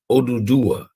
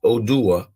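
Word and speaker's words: Oduduwa: dynasties in Yoruba land his name phonetically written by Yoruba language speakers is odudua and sometimes contacted or contracted as odua or uduwa odudua or uduwa is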